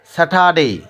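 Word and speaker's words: Saturday: আর আর এর উচ্চারণ হয় না বিধায় এখানে হবে স্যাটারডে, স্যাটারডে, সানডে, মানডে।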